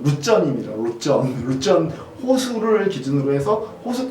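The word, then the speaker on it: Luzern: 루체른 호수, 그러니까 우리나라 말로 하면 루체른인데 이제 거기 말로 하면 거기 발음으로 하면 루전입니다.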